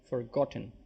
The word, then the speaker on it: forgotten: Forgotten on the second syllable. There are three syllables here.